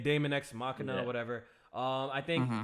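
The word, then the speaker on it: Daemon X Machina: Well, it's really demon. That's how demon is spelled in some places. I forgot. But they calling it It's Damon. Damon X Machina Yeah.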